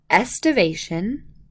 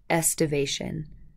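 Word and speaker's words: aestivation: about these three things estivation you can almost imagine that there's no a and just pronounce it with the est sound estivation I've even seen this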